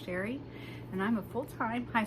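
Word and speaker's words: Cheré: My name is Sherry, and that is spelled C-H-E-R-E. It is spelled a little fancy, but pronounced plain old Sherry.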